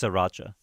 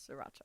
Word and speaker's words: Sriracha: try to you put you put in a bit of a s it's just Sr but it's spelled s r i but don't say it don't say it like thata it's just Sriracha Sriracha there you go la